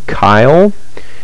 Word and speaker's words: Keil: But just to give you an overview, but it's this, I've heard it pronounced Keil, is what I've heard it be pronounced, but this one I'm looking at, this is one that you can get.